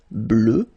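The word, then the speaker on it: bleue: at the end okay phonetically doesn't exist because you don't pronounce it so you get blue as you would get for the masculine form okay but still you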